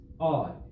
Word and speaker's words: ad: word odd in Latin ad pronounced odd it means to or